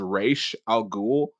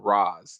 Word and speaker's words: Ra's al Ghul: him Ra's al Ghul because that's the pronunciation is Ra's al Ghul. But everyone else outside of that, they call him Raz, and it's like, yeah, you guys, Ra's.